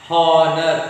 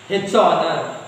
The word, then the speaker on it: honor: We won't pronounce h. So h is silent. You won't say h honest, wrong. H honor, wrong.